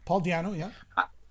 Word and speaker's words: Paul Di'Anno: And I think that Paul Di'Anno, is that how you pronounce it in English? Yeah. Paul Di'Anno, yeah.